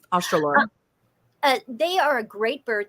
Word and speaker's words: Australorp: But I have one of my favorite chickens to raise are the black, I think you pronounce it Australopes. Mm-hmm. Australorp.